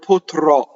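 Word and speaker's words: potrò: So all of the future tense ends in a strong O, and that strong O is accent on the last syllable, and the O is open. We write open O in IPA by the broken circle. So the first O is like Joe, right?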